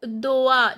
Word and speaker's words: dois: Tu doa, this s is not pronounced and oi sound is oa.